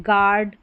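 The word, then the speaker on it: guard: तो यहां पर जी का ही उच्चारण होगा और यू साइलेंट होगा। जैसे यह है गार्ड।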